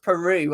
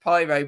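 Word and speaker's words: Piroe: They've kept one of their star players, which is actually pronounced Peru. I always thought it was pronounced Pyro, but thank you for Andrew for filling me in on that information.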